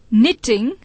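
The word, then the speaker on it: knitting: Wrong, no, निटिंग, honest, साम। अब देखिए कि निटिंग में के और दूसरी टी का उच्चारण नहीं हुआ। बोलने में NITING निटिंग ही आया।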